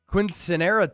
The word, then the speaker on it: quinceañera: It's my sister's quinceanera today. Shout out, close. baby sister, the biggest Niner fan I know. What is quinceanera? It's like look at you with that pronunciation, emphasizing that N with the accent.